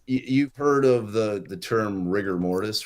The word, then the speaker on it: rigor mortis: I'm like, are you saying it's pronounced rigor mortis? I'm like, so are you telling me that I've been saying it incorrectly like my entire life? He's like, most people do, but it's definitely rigor mortis.